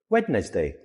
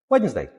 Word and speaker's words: Wednesday: Wedness day. Wedness day. That doesn't sound right.